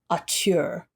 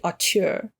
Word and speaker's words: auteur: as a rising horror auteur. Auteur. Auteur. What is it? It's A-U-T-E-U-R. Auteur, right? Yeah. Auteur, it's got to be. Yeah. I think you're saying it right.